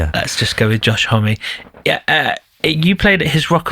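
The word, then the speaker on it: Homme: Homie. Homie. Is it Homie? Is it actually? I always thought it was Hom. Oh well. Everybody Everybody does. Yeah. Let's just go with Josh Homie.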